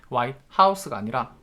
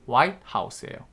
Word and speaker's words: White House: the White House가 한 단어고요. 여기 강세 찍어 주셔야 돼. White House가 아니라 White House예요.